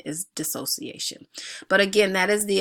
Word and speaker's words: dissociation: just time talked about that and I was pronouncing dissociation incorrectly I said this association it is dissociation so pardon me for that error as I